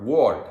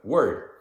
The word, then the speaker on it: word: He can say bird, heard, but he says ward, because it's written W-O-R-D.